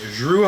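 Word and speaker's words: Jrue: combination with um Drew let me let me pronounce it better Drew holiday because it is a Jay um Drew holiday and B uh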